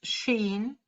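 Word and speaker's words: ש: let's see and veronica shin pronounced sheen means tooth probably a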